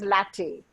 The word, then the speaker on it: LaTeX: talked about latte latex it's pronounced as latte what is the usual